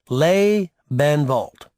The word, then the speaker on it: Lebenwald: That's pronounced Lebenwald.